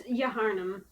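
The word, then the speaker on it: Yharnam: It's Yaharnam.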